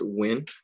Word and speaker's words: Nguyen: Adam Nguyen. Here. It's actually pronounced Wint. Thank you. Wint? Nguyen. It's Vietnamese.